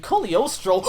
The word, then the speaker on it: Cagliostro: I never tire of the old mentor trope in movies, and Cagliostro, I said it right this time, yes!